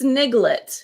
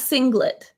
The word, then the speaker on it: sniglet: It's sniglet. Sniglet. Not singlet.